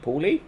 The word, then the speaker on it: Pauli: our win over uh Saint Paul the Paulie is how you say it um finances wise all